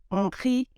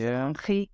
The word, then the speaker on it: Nkhi: Nkhe you are right. That's the right pronunciation. Because I'm Tsonga, and you know, Tsonga people, they will just, you know, not be sure of what they can pronounce it. Yeah. It is right. It is Nkhe. It's a Southern Sotho surname.